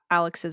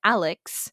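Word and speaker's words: Alix: name but she was named Alex a l iix because uh people in Germany could not pronounce Alice's name properly so they named her Alexandra shortened to Alex with an IX because it'd be easier for the German language to pronounce but when spoken it sounds like Alice it sounds like her mother's name so that's why their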